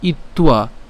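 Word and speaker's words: ইত্বা: সেনয়রু ভয়র মধ্যে স্থাপয় ইত্তুয়া ইত্তুয়া একসাথে ইত্তুয়া আলাদা করে বললে ইত্যা একসাথে বললে ইত্তুয়া রথ উত্তম তো আশা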